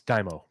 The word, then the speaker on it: Daimyo: It's Daimo. Daimyo. Yeah. Daimyo. It's pronounced Daimo.